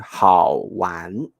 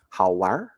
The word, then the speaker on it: 好玩儿: But in northern China, people will use 化音 Okay, so they will say 好玩, 好玩. They will have like twist the tongue, roll the tongue up.